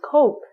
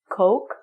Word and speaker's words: Coke: Pronunciation is cock, meaning the penis, and the drink is Coke. Try this. Coke and cock.